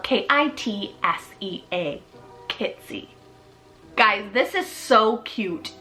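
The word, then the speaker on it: Kitsea: sounding and it's the name kitsy spelled k-i-t-s-e-a kitsy guys this is so cute you can do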